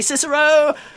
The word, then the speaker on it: Cicero: yes who's asking yeah i think it's pronounced kikero actually but you know absolutely right so he's gonna say cicero because i prefer it fair enough uh grisop